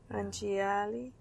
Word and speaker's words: Anjali: Anjali. A-N-J. A-N with a wiggly. Anya. And then J-A-L-I.